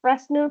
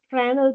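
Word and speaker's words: Fresnel: The third one is frenal prism. Okay. The pronunciation of this prism is very important. S is silent. It is not fal prism but it is frenal prism.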